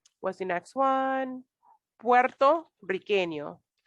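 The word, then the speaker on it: puertorriqueño: what's the next one puerto riqueno with two r's you're gonna roll your tongue old 164 puerto riqueno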